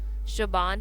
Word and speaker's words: شعبان: 8واں قمری مہینہ ہے جس کا تلفظ شعبان ہے اور ہمیشہ مذکر استعمال ہوتا ہے۔ شیخ عبد القادر جیلانی فرماتے ہیں لفظ شعبان میں 5 حروف ہیں: شین، عین، بے، الف، نون۔ ان میں سے ہر